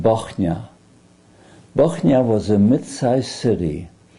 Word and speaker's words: Bochnia: Bochnia is spelled B-O-C-H-N-I-A.